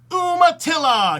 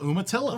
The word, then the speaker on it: Umatilla: Umatilla, because I just like saying Umatilla. Umatilla. All right. And you have to spell it right.